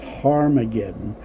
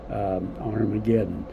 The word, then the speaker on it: Armageddon: And the original text, I think, pronounced that Harmageddon, but most Bibles nowadays, they all agree to Armageddon.